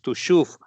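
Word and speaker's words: Tuchów: Bueno, hoy vamos a hablar de una ciudad, una pequeñísima localidad polaca llamada en Yiddish o pronunciada en Yiddish Tushuf, ¿no?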